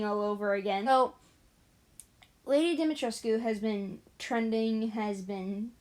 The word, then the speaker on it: Dimitrescu: Listen, after watching multiple videos on the pronunciation and hearing people who are from the area where the name originates say that that's how the name's supposed to be said, it's literally the whole Ra's al Ghul thing all over again.